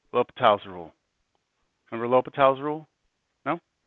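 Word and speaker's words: L'Hôpital: L'Hopital's rule? It's like, it's spelt like La Hospital's rule.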